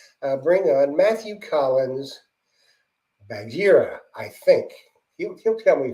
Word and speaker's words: Bagheera: what I go by pronunciation Bagheera it's the uh in The Jungle Book the Black Panther from The Jungle Book the old Disney